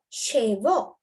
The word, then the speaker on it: chevaux: You have chevaux. Chevaux. X is silent.